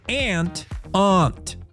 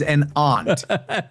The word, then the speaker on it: aunt: You're one of those guys who pronounces aunt. Yes. You step on an ant. Your relative is an aunt. There is a huge difference.